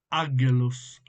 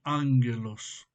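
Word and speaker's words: ἄγγελος: En griego se toma la palabra o la frase o el nombre ágelos, ágelos, que obviamente se termina pronunciando ángelos, pero es ágelos.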